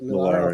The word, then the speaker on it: Millar: Is it Miller or Millar? How he pronounce? I think he pronounces it Millar.